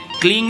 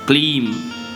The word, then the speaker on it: क्लीं: तो अनुस्वार के बाद में कुछ है नहीं, तो आप उसको ऐम बोलेंगे, रींग नहीं बोलेंगे, रीम बोलेंगे, क्लींग नहीं बोलेंगे, क्लीम बोलेंगे।